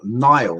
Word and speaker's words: Nihal: of the rabbit's head, which is called Nile, which is spelled Nihal, which I'll get to in a moment.